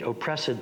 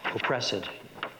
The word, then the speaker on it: oppressed: A false creation proceeding from the heat oppressed brain. And when you see the ed, then you know that you say that as a three-syllable word. Oppressed, not oppressed.